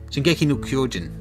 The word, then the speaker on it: Shingeki no Kyojin: what's the Japanese pronunciation for Attack on Titan? Shingeki no Kyojin.